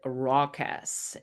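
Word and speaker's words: raucous: And the next word that we have is the word rockus. And uh spelling alert, this is how it's spelled.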